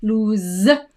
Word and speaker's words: lose: So pronunciation-wise, the pronunciation of that one is Z, lose, and the pronunciation of that one is loose.